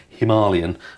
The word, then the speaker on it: Himalayan: And the Royal Enfield Himalayan, as it's properly pronounced.